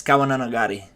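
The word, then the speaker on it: 川の流れ: I It's a I I I don't know Japanese, so I it takes me forever to pronounce it, but in Japanese it's super fast. It's Kawa no Nagare. Something like that. Like super quick.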